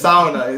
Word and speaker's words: sauna: it incorrectly and finish every syllable is pronounced and the first takes emphasis broken into I don't even know what I'm saying but it's sound it's sauna it's you're talking things